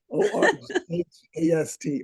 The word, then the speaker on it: Orgast: And also, Ted wrote out syllables, words that he was making. He made up a language called Orgast. Okay. O-R-G-A-S-T, Orgast.